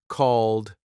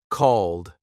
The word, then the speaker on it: called: Called, d sound. Say it. Called.